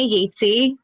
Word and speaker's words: Yajcaj: So my name is Yajcaj. Don't even look at the way you spell it. It ain't it.